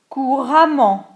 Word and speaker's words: couramment: Courant, ANT, couramment, A2MENT, fluently. Différent, ENT, différemment, differently. Évident, ENT, évidemment, obviously. Donc attention ici, on prononce A2MENT ou E2MENT de la même façon.